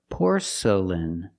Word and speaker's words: porcelain: Poor porcel porcelain. The next two syllables are not stressed. They are relaxed. Make the sound uh uh por porcelain. Porcelain. Put the stress on the first syllable.